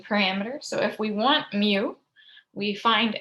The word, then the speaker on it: mu: probability the mean was the greek letter mu pronounced mu m e w we usually spell it